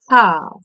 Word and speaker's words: half: Przedstawię wam teraz grupę angielskich słówek, które są najczęściej niepoprawnie wymawiane. Pierwszym słupkiem jest słówko połowa. Hal.